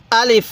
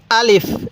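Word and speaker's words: ألف: হলো আলিফ আরেকবার বলুন আলিফ আলিফ টান দিবেন না আলিফ এরকম ভাবে শিখবেন এরপরে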